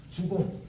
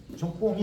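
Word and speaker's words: 足恭: 여기 또 아까 교원 영색 그럴 때 적공이라고 읽으면 안 돼요. 보통은 그 원문 읽어갖고서 그냥 짚고 넘어가는데 이때에는 지나칠 주자로 읽어야 돼요. 주공이라고 읽어야 돼요. 이제 이런 게 실력 테스트하는 유일한 함정 있는 시험 나오는 점. 주공. 적공이 아니에요. 주공이야.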